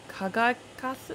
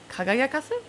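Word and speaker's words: 輝かす: Kamina ga kokoro no soko kara yukai sou ni me o kagakasu. That sounds wrong. It's pronounced differently. My thing's not working. Kagayakasu? Okay.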